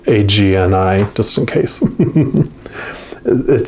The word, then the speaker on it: agni: their agony is dim agni is described as inner fire or sacred intelligence i may pronounce that wrong too it's agni just in case it